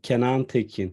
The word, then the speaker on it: Kenan Tekin: it for me though, so I could hear the real It's pronunciation? exactly, yeah. Kenan Tekin.